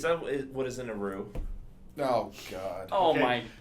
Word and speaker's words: roux: It's pronounced roux.